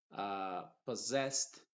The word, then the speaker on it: possessed: Possessed también pasa lo mismo. Y finalmente, scissors. En esas palabras, la doble S en medio de una palabra no se pronuncia como una S normal.